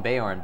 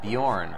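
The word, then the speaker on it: Beorn: The Hobbit movies and they call him Bay horn but I always said Bjorn when I read it and it looks like they pronounce it that way to Bay awareness like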